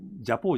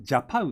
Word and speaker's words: ジャパウ: これ、ジャポーじゃなくて、ジャパウって読むんですよね。